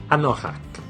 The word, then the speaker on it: anorak: qui vient de l'anglais d'ailleurs car on le prononce toujours evac anorak l on le prononce la plupart du temps